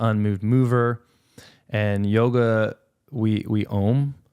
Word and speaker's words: Om: And yoga, we om. Like Om, and that is spelled AUM, and it's supposed to be the